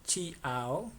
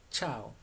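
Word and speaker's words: ciao: Entonces no es por ejemplo chia ao, no chiao no es sino se dice chao. Es como si la i no existiera.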